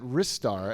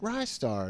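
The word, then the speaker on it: Ristar: did a video where they kept pronouncing it wrist star and they were saying it was the truth that it was wrist star and i was like no it can't be right rye star right yeah rising star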